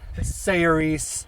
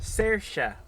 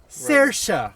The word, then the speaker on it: Saoirse: the other one is I would say sees Ronin however I would be wrong Tim say it for us sersa sersa Ronin yeah sersa it's a it's